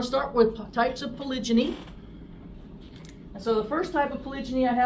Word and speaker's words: polygyny: did this but polyg polygyny which is the proper way to say it but the gy is what it's referring to the gyum which is the female part so that's one male